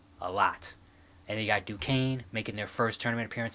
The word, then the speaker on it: Duquesne: It's Duquesne. The S is silent.